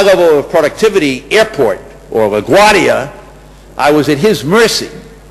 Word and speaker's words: LaGuardia: cab, and I said, LaGuardia. LaGuardia, 4 syllables.